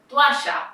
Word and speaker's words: toalla: For example, the word toalla or toalla. To, a, ya. These are two vowels, a and o, that are together but they end up being in different syllables.